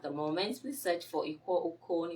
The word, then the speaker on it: Iquo: Please search for Ikwo Ukon. Ikwo is spelled IQUO, and then you can join us and leave your comments.